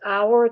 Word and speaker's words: hour: Blood was drawn an hour after the test meal. So you need, because hour, the H is not pronounced in English, you need an as opposed to a.